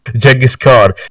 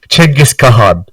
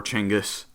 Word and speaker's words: Genghis Khan: Apparently, the closest approximation to the actual real pronunciation of Genghis Khan is Chengiz Khan. Big Chengiz in the house. I feel like I've definitely heard that before, Chinggis.